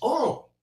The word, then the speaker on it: oil: so i didn't know in new orleans they pronounced oil as oral you see what i'm